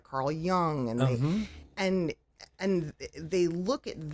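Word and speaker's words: Jung: we know of is Young and and many many young pagans no pun intended don't understand that um by the way it's spelled j-u-n-g for those when it's young yeah um and it's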